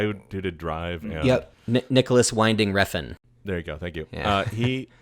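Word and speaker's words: Nicolas Winding Refn: um uh what's his name i can never pronounce his name it's like nicholas ren friend whatever the guy who did it drive yep nicholas winding refn there you go thank you uh he uh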